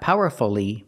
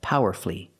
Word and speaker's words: powerfully: expressed her opinions powerfully not powerfully but powerfully flee flee powerfully three syllables she expressed her opinions